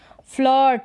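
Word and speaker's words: flirt: के रूप में प्रोनंसिएशन आई का उच्चारण अ के रूप में इसका भी कॉमिनेशन होता है जब हम पढ़ते हैं आई आर का कॉम आई आर के कॉमिनेशन में आई को अ के रूप में पढ़ते हैं जैसे फ्लर्ट क्या है फ्लर्ट फिर ये है फर्स्ट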